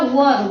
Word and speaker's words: were: इसका उच्चारण होता है वर। वर रोवर। इसको हम पढ़ते हैं वाज। वास पढ़ते हैं। इसको वर पढ़ते हैं। प्रोनाउंसिएशन इसका होता है व पढ़ते है ना? वेयर नहीं पढ़ते हैं।